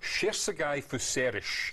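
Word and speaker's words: Cserszegi Fűszeres: This is the Hilltop Estate, and it's pronounced Sherzegai Fuserish.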